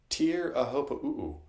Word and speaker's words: Teahupo'o: He got his way because you are now pronouncing it to his specification. Teahupo'o.